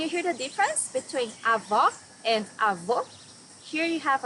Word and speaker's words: avó: Avó, grandmother. Here you need to hear the sound of the last O in the syllable. It should be an open O as we say in Portuguese. Avó.